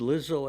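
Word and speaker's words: Lizzo: somebody pretending to be Lizo with a fake python and they used one of my songs. Oh, really? Okay. Well, Lizo Lizo is a It rhymes with Rizzo, but And it it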